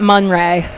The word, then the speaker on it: Mon-Rae: But yes, call that Mon-RAE. I said it already, but it sure is a good thing my name rhymes with day, because that makes these titles a lot easier, I think.